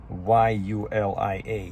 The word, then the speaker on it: Yulia: it can be Julia, but her name was spelled with a Y, Y-U-L-I-A, Yulia, which is like translation from Russian, right?